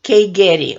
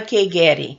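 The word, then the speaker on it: Keigeri: Lola and her last name is Kay Getty K Gary Ola Kae Gary now the word itself Astra diamond is also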